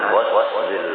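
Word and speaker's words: غسل: An ghuslil wajhi. Ghusl itu bacanya ghairnya itu fathah, maknanya membasuh. Apabila ghairnya itu dhamma, maknanya mandi. Jadi baris benar aja semuanya salah, lalu maknanya salah.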